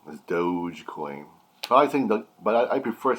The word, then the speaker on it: Dogecoin: kid-ish to me so i'm going to continue saying dougie coin because it's more fun but i do know how to say it's called dogecoin i gotcha just want to